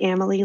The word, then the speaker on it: Amelie: It's pronounced like family, Amelie like family.